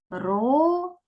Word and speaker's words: горобець: поділити його на склади горобець скільки складів три правильно А тепер Давайте перевіримо чи правильно стоїть наголос на третьому складі погукайте будь ласка горобця